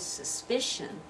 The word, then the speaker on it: suspicion: the next one suspicions that middle syllable is the one that receives the stress suspicion now this is